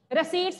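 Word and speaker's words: receipts: रिसीट्स word भी लिख सकते हैं, पी साइलेंट रहता है, रिसिप्ट स्पेलिंग होंगे लेकिन पी साइलेंट रहता है प्रोनंसिएशन में.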